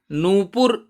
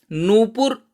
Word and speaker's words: नूपुर: नूपुर उच्चारण ठीक करिए। और ऊ न के साथ जो ऊ लगा है वो दीर्घ है और पै के साथ जो लगा है वो ह्रस्व है।